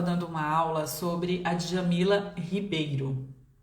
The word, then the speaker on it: Djamila Ribeiro: estava falando em inglês, eu terminei pronunciando o nome dela como Djamila Ribeiro. Foi bem engraçado porque Foi natural, foi espontâneo, é como se eu tivesse ativado o modo inglês. Então, eu usei o fonema daquela forma, o R dessa maneira.